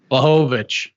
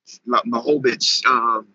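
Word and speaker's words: Błachowicz: How you pronounce his last name? Blachowicz. Blachowicz.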